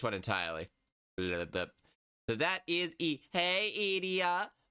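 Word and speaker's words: え: But it is pronounced as in like EH, you're going like like egg, like egg. Like you pronounce it as you would say egg.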